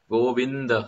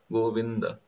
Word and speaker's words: Govinda: Go is easy, the is easy, but vin is difficult because Govinda, there is a samyukta akshar, there is a combination syllable. Govinda, half na with a full da, Govinda.